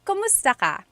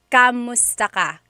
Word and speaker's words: kumusta: If you hear my pronunciation and then other people, when they say it, usually they say kamusta ka? Kamusta ka. So it sounds like it's spelled with a letter A, K-A-M, but technically it's spelled with a K-U-M.